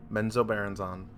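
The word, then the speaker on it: Menzoberranzan: what is it meno Baron no way yep menzo Baron on we have to do a poll right now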